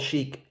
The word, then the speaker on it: chic: time on this one I thought we spelled chic s-h-e-e-k maybe this is the French spelling of it chic why do I have